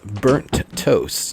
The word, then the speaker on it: BurntToasTJ: That is Burnt Toast. Now, there's a J on the end. The J is silent.